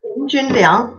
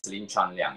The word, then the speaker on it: Lin Junliang: So it's Lin Junliang. Lin Junliang. Yeah, sorry. Yeah, Lin Junliang. Yeah, the English name pronounced is Lin Chunliang.